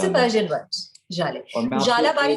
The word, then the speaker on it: Zhalay: Which is why a lot of people pronounce it Zille, but Zille नहीं है. ZHALAY can't be Zille.